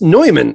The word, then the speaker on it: Neumann: You have the name of a famous microphone that radio stations use, which pronounced Neumann, of course.